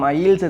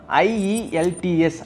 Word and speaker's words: IELTS: First இது IAS exam, ஐஇஎல்ஸ் exam அந்த மாதிரி சொல்கிறது எதுக்காக அப்படின்னா, ஐஇஎல்டிஎஸ் அப்படிங்கிறது தான் ஸ்பீடாக ப்ரொனவுன்ஸ் பண்ண போய் இந்த மாதிரி மிஸ்ப்ரொனவுன்ஸ் ஆகுது. ஐஇஎல்டிஎஸ் அப்படின்னா international English language testing system.